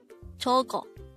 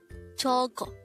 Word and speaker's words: 저거: 저거. 저거. This is pronounced as a two-syllable word.